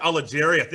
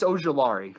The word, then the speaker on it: Ojulari: Azeez Al-Ajeri. I hope I said that name correctly. I'm trying to get better with names, bro, with this pronunciation and podcasting. Am I good with that? Azeez Ojulari.